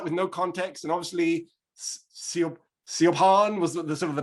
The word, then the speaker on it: Siobhan: And then so I said, no, it's Siobhan. It's like, that's not Siobhan. I don't spell well, and I wouldn't even spell it that way.